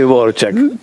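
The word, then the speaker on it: Dvořák: a mí me dijo Samaritano que se dice Dvorak. Se escribe Dvorak, pero parece que se dice Dvorak.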